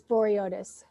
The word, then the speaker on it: Vouriotis: last name because i don't think i could pronounce it it's boreatis boyles it's greek great yep nice so kimberly